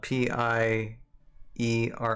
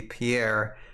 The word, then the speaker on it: Pierre: they have specific pronounced cities the capital which is spelled p i e r r e which you would think would be Pierre is not yet it's pronounced Pier p e